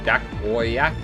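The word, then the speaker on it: Jankowiak: Becca Monopoly, Andy Dakoyak is how you say his name.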